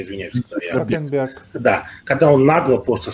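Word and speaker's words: Цукерберг: Как вы фамилию правильно произносите, извиняюсь? Цукенберг.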